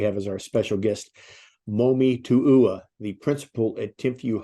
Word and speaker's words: Momi: Today we have as our special guest, Momi Tu'ua, the principal at Timpview High School. Welcome to the podcast, Momi.